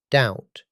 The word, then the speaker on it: doubt: He already knew the B is silent.